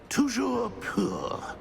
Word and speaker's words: Toujours pur: I order you to pronounce it for me. Master knows that Scrope's French is Most pitiful. Oh, very well. Toujours pur.